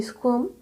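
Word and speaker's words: squirm: भी देख सकते हैं स्कम एस क्यू यू आई आर एम आर E silent so we will pronounce it एज स्कम fees not freeze fees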